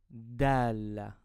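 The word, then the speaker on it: دال: So let's start with the letter Dala. Dala. I pronounce this letter like a D in dad.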